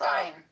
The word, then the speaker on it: Ayn: It's Ein. Ein Rand. Yeah. Ayn Rand.